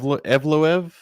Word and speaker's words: Evloev: but elev again going how do you say his name I'm not sure EV evloev that's how that's how I think you say it mzar mzar so I've